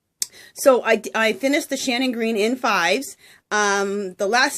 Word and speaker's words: Shannon Green: green and you guys I've been saying that name wrong her name is not Sharon it is Shannon green so sorry and I went ahead and changed it below where I have her link to Shannon not Sharon I can't believe I've